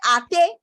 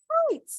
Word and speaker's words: hate: You will not say ati. No, no, no. It is hate. What has happened here is the silent E has changed the sound to its letter name.